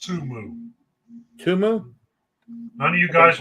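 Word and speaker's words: Temu: got an up and against and it's actually pronounced tumu tumu none of you guys watch the Super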